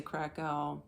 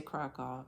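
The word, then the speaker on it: Kraków: Al however you want to pronounce it us Americans say crao they say crack off I mean it's like tomato tomato I don't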